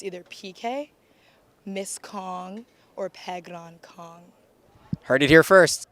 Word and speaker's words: Phekran: say your name so my name is pronounced pegon um and a lot of people actually call me PK Kong but that's like calling me like pegon Kong Kong I know there's a